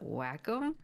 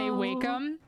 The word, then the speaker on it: Wacom: i find it interesting you pronounce it wacko that's technically the correct version i actually say wacom oh you're trying to